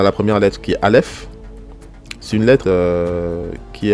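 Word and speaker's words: אלף: En général, franchement, le Aleph, c'est vraiment une lettre muette.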